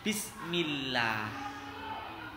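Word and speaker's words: بسم الله: Lam jalalah dibaca tarqiq apabila berada setelah huruf yang berharokat kasrah. Contohnya bismillah. Ya Kak, ketika kita kemudian membaca kalimat seperti ini nggak boleh bismillah, nggak boleh mencucu atau ditebalkan atau bibirnya dimoncongkan, tapi meringis bismillahirrahmanirrahim. Seperti itu ya. Kata lohnya bukan Allah, karena ini tarqiq, maka dibaca tipis bismillah.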